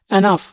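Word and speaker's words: enough: হচ্ছে gate এনাফ slip এনাফ উচ্চারণটা কিন্তু দেখবেন বানানটার প্রতি খেয়াল করবেন এখানে আমরা শেষে ফ উচ্চারণ করতেছি অথচ এখানে কোন ফ নেই ই এন ও ইউজি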